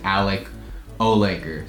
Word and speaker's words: Alec Ohlaker: If you don't know yet, I am half Swedish, half American, and my name is pronounced Alec Ohlaker. So Ohlaker is just like the English version of how to say it, I guess.